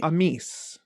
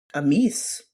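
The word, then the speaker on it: Amys: Let's Google how it's supposed to be pronounced. Let's see. Amis. Amis.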